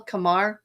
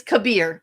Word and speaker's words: Kabir: And so in real life, you know, um the programmer, what's his name? Kamal. Kamar. Kamar. Kabar. Like whatever. I can't I can't pronounce his name. I'm terrible with names. His name is Kabir.